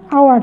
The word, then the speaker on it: hour: সেক্ষেত্রে আমরা এখানে খেয়াল করছি যে এইচ, এখানে আওয়ার, এখানে কিন্তু আমরা যদি এইচটা বাদ দেই তাহলে উচ্চারণ কি হচ্ছে? আওয়ার, তাই না? তার মানে এখানে খেয়াল করো যে এখানে কিন্তু এইচের উচ্চারণ হচ্ছে না, এখানে উচ্চারণটা হচ্ছে আওয়ার,